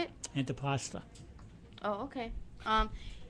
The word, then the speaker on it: antipasto: called antipasti is that how you say it antipasta oh okay um it's an antipasto bruschetta is an antipasto that originated in Italy